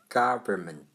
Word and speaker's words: government: 我们来学政府这个字 government， government，政府 government，n 不要发音 ment， ment， government， government，government，政府。